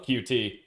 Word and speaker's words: Qt: much C++, but I have a hobby in Qt. Oh, you came to the right guy. I love Qt, or Qt, depending on how you pronounce it.